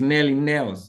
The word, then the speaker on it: Nelly Nails: don't know n right okay it's Nelly Nails okay it's a combined name Nelly Nails oh beautiful I got